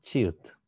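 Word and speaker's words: 치읓: То же самое и с чиют. Верхняя позиция ч, нижняя позиция т.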